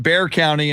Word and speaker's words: Bexar: i just crossed into bexar county and i'm in a i'm in a little town called bowern and i go uh now you're in bear county and it's bernie you're